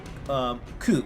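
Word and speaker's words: 九: May is Gogatsu, and the 9th is pronounced Ku if you read it by itself, or Q.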